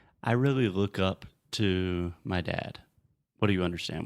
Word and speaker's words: Tom: Tom. Fechar a boca com M. Tom.